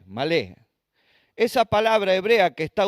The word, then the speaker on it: malé: usa la palabra hebrea malé, M-A-L, acento en la E, malé.